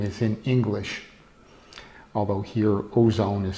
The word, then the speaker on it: Ozon: Something funny about many Russian companies, actually their name is in English, although here Ozone is spelled O-Z-O-N.